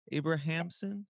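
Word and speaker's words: Abrahamsson: kind of segue into relationships your husband Carl Abrahamson Abrahamson is how you pronounce it yeah who I've also been following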